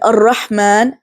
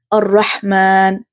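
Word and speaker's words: الرحمن: For example, Ar-Rahman, Bismi. So in Ar-Rahman, you see how in Ha there is a weak or slight continuation of breath, whispering or expulsion of air. Ar-Rahman.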